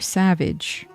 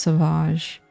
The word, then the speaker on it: Sauvage: Dior Savage. I think it's pronounced Sauvage.